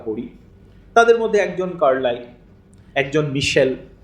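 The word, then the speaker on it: Michelet: তাদের মধ্যে একজন একজন মিশেল বা মিশেলে ফরাসিতে উচ্চারণটা এরকম হবে তো এরা কিন্তু আসলে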